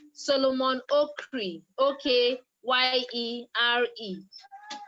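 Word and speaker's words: Okyere: e r e solomon oak cree okay y-i-e-r-e it's pronounced oh cree but it's spelt if it was a nigerian name it would be pronounced something like oh kerry okay y-e-r-e yeah okay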